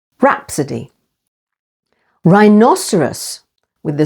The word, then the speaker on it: rhinoceros: a slice of ghetto H is always silent after r as in these words rapid with the stress on the first syllable rapidy rhinoceros with the stress on the second syllable rhinoceros and rhyme and H